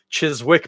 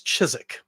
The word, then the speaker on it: Chiswick: in most cases uh we don't pronounce the W in those British place name pronunciations or Irish in this case so for instance it's not Chiswick bitter it's chizik and it's not Smith